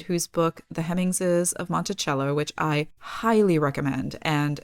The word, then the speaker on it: Monticello: But CH was how Jefferson pronounced it.